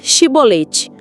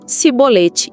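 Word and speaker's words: shibboleth: Para identificar os efraimitas que tentavam fugir, eles pediam para a pessoa dizer Shibolete. Os efraimitas não conseguiam pronunciar o She e falavam Sibolete, e eram mortos ali mesmo.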